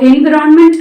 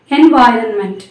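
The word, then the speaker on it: environment: ஸோ என்விரான்மெண்ட் அப்படின்றது it's incorrect, என்வாயரன்மெண்ட் அப்படின்றது correct pronunciation. And next word aesthetics.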